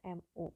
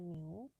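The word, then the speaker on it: μ: menentukan berapa new ya lambang ini tulisannya emu Sebenarnya teman bacanya Mio ya nulisnya seperti ini oke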